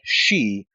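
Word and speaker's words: 四: and that's interesting because in japanese the the number four is pronounced something like she which is the same as their word for death so there's a connection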